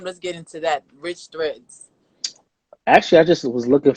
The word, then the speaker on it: Riche Threads: So it's Rich Threads, not no Richie. There's no IE in the brand. Get it right, Rich y'all. Rich is more of a French twist to American Rich.